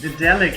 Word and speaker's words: Daedalic: It's Daedalic Entertainment. Daedalic. Okay. See, because I would probably go with the A too much, and I think that's where I would mess up.